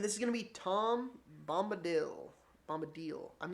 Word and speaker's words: Tom Bombadil: And this is going to be Tom Bombadil. I'm not actually sure how to pronounce the name.